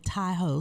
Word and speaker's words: Tahoe: Taho is actually a derivative of a Wu native word um which is dol. So that would be the original pronunciation of the name and I just I